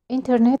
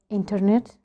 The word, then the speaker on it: internet: Internet, you can pronounce it like internet or internet. Internet. You can skip this D. You can make it silent.